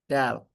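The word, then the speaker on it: Dahl: H is silent. Dal and his wife was Sophie Dal.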